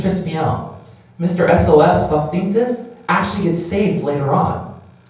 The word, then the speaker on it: Sosthenes: His name is Sosthenes. Sosthenes. That's how it's pronounced.